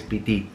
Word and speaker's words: Pitito: Pitito. Pitito. It means hunger. When you have an appetite. Yeah. In Sicilian it's pitito.